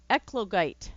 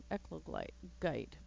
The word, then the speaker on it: eclogite: Well, I suppose under the roof again, I could do more of the echolite, or what, however you pronounce it. Eglokite? Eclogite. There we go. Eclogite.